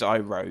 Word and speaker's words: Iroh: It's Iroh, yeah.